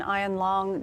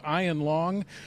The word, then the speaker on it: Ian Long: And I also want to clear up right from the beginning pronunciation. Now, the sheriff identified this mass killer as Ian Long. Well, a neighbor tells us he's heard his mother say many times Ian Long. We're going to go with Ian Long.